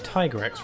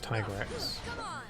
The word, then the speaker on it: Tigrex: It's Tigrex, right? Because it's like a tiger, right? It's like got tiger print on it, so it's Tigrex.